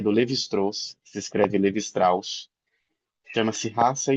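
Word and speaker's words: Lévi-Strauss: Tem um texto, ele é curtinho, é do Levistros, se escreve Levistraus, chama-se raça história.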